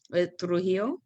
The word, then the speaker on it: Trujillo: And so I think about the ethnic cleansing, and I don't know if I'm pronouncing his name right, Trujillo.